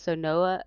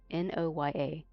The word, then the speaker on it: Noya: So Noah or oh, I keep saying it wrong. It's Noya. Not Naya.